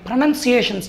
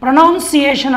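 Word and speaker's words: pronunciation: Plus వీటి యొక్క ప్రొనన్సియేషన్స్, చాలామందికి ఇంగ్లీష్లో ప్రొనన్సియేషన్ అనే విధాన్ని ప్రొనౌన్సియేషన్ అంటారు. అది ప్రొనౌన్సియేషన్ కాదు, ప్రొనన్సియేషన్, ఉచ్చారణని ప్రొనన్సియేషన్ అని పలకాలి.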